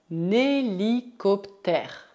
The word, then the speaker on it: hélicoptère: Cuidado, o H é mudo, então temos que fazer a ligação. Un hélicoptère.